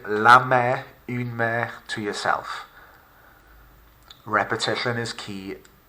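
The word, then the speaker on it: la mère: this case we have the mother lame not mary or mary or anything like that meh take a minute take a couple of seconds to repeat the word la mer to yourself repetition is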